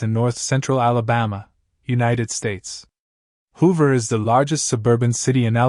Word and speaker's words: Hoover: To pronounce it correctly, emphasize the HO sound and then the ver at the end. Make sure to stress the first syllable and keep the ver short and crisp.